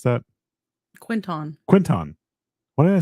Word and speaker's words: Quinton: But if you guys are near is it Quintessa, or how do you pronounce that? Quinton.